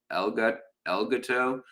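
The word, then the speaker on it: Elgato: El Gato makes. Is that how you say it, or is it? Yeah, El Gato, El Gato, the cat, El Gato makes really great tabletop mics with excellent mixing software.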